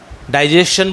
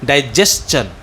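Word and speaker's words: digestion: डाइजेशन बोलते होंगे शायद आप, डाइजेशन इज़ a wrong pronunciation. डाइजेस्चन।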